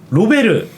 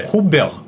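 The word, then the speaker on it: Robert: 불어로 읽으면 두 음절입니다. 어떻게 되죠? 르가에 몸이 안 붙어요. 네. 호베르. 이게 로베르랑 비슷할까요? 호베르. 호베르 피레스. 자, 로베르 피레스가 허만 피레스 이렇게 해서. 네. 호베르 네.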